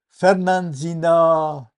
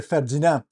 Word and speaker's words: Fernandina: J'ai parlé à une nouvelle personne, à Fernandina Beach. Je dois bien le prononcer car j'ai tendance à dire Ferdinand.